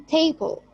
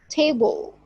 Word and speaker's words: table: For example, in table, table, first syllable here is prominent, and committee, committee, and recommend. Second syllable is stressed.